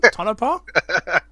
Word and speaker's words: Tonopah: Is that how you pronounce it? Tonopah?